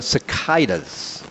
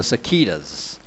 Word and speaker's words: cicada: the invasion of the cicadas or the sakitas and that pronunciation is good depending on what country you're from as i found out